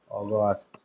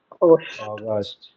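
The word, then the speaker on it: August: December আসবে না অ উচ্চারণ আসবে অ আমরা আগস্ট বলি নট আগস্ট অগস্ট অগস্ট ওকে আমরা একটু ট্রাই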